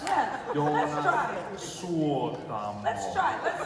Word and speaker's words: Suotamo: Jonas Suotamo. Okay. You pronounce every word in Finland. There's no Finnish has no silent letters. No. We don't silence our letters. We want it all in there. Every letter counts.